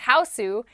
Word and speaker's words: Huis: The hu is or the Japanese version of the name is pronounced houseu is a product of